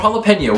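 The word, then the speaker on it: jalapeño: Or jalapeno, which is delicious, except for the fact that the J never makes an H sound in English. We just did that because that's how they spell it in Spanish.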